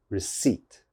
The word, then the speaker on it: receipt: or something like that that is definitely wrong receipt receipt you have to be confident receipt second